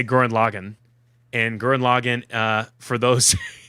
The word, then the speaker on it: Lagann: So Gurren Lagann. It's Lagann. Yeah, Gurren Lagann. That's how they pronounce it.